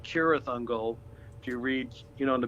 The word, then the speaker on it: Cirith Ungol: It's actually pronounced with a K, like Cirith Ungol.